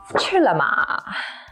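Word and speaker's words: 吃了吗: or have you eaten to eat is the first tone high and flat and la ma they are both neutral tone which means there's no stress so you say it quick and kind of quiet if you use chiroman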